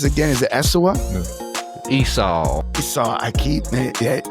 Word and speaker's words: Esau: I want to see how do you pronounce it again? Is it Esau? Esau.